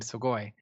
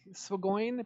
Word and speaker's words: Swagoin: I like Swagoin because it rhymes with groin.